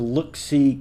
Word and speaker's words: Looxcie: Now, it's spelled a little differently than you might imagine. It's spelled Looxcie. That's the Look-See camera.